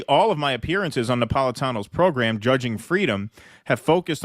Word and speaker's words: Napolitano: Hey, see, the guy said it wrong. He was Judge Napolito. Caught your latest appearance on Judge Napolito. He was referring to Andrew Napolitano, a former Fox News